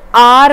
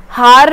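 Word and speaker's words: hour: हार नहीं बोलते इसको, एच साइलेंट है इसमें, ठीक है? एच साइलेंट होने की वजह से हमें वॉवल साउंड दे रहा है और ये बन जाता है आर, और आर होने की वजह से ये एन आर बोला जाता है, ना कि ए आर।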